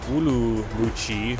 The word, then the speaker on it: Ürümqi: just joining we are flying wulu mui that's how you say it in Chinese or roomi uh shin